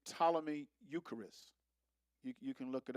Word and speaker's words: Ptolemy: Ptolemy. I say Ptolemy, but I think the P is silent, but Ptolemy or Ptolemy.